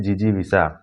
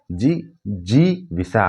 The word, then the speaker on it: जिजीविषा: जीने की इच्छा, इसे कहते हैं जिजीविषा। क्या कहते हैं? जी जी विषा। पहले छोटी की मात्रा, फिर बड़ी की मात्रा, फिर छोटी की मात्रा, उच्चारण समझिए।